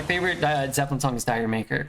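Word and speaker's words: D'yer Mak'er: uh Zeppelin song is Tiger maker or if I wanted to pronounce it more correctly I would say Jamaica but Fool in the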